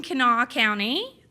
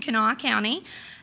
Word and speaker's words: Kanawha: I work in Kanawha County. That's the first person who's ever nailed the pronunciation, Kanawha County.